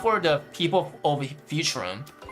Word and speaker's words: Futurum: Uh not for the humans and not for the people of Futurum. Futurum. That's the name of this planet. That's how it's it it sounded pronounced in the logical tongue.